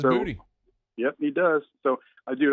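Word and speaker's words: Boutte: I loved talking to Kayshawn last week, who told me that he pronounces his name Booty. That was interesting to me. He says Booty.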